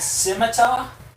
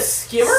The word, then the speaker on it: scimitar: People calling it a skimmer? Sim. Sim. Let's spell it out for you. Sim, S-I-M. S-I-M. A-tar, T-A-R. Scimitar. It's like a minotaur, except it's a scimitar.